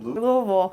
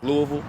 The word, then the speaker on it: Louisville: Yeah, we're making a documentary here on How would you Louisville.